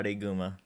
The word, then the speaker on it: Araiguma: How do you pronounce that? Like literally. Yeah, Araiguma.